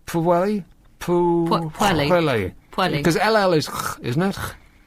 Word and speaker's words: Pwllheli: Oh, blimey, how'd you pronounce that? Here you go. You're so smart, try this. Pwllheli. Pwllheli. Is that right? Pwllheli? Pwllheli.